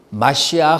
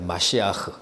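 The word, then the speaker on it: מָשִׁיחַ: 기름 부음이란 뜻이야 기름 부음을 받은 자라는 말은 마시아 그라고 해요 마시흐 마시아 그가 이제 우리 우리 발음으로는 뭐예요 메시아 아아 메시아 우리는 메시아라고 이제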